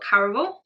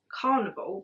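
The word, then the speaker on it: Caraval: on we've then got Caravel as well which I used to pronounce as Carnival but it's there's no n in it is Carnival spelled with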